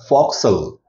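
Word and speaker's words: forecastle: Front portion of the deck is called for castle and it is pronounced as foxel.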